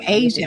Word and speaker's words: Aja: Real quick, my name is pronounced Asia, like the continent. Oh, Asia.